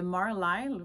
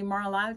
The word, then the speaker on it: Marlisle: technique particulière qui s'appelle le Marlisle, ou ça s'écrit Marlil, un petit peu comme Fair Isle, mais c'est Marlisle comme marbré, j'imagine.